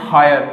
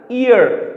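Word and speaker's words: heir: Okay, तो कुछ इसका प्रोनाउंसिएशन लोग करते हैं हायर, इट्स नॉट ए हायर। The real pronunciation of this particular word is अ ईयर।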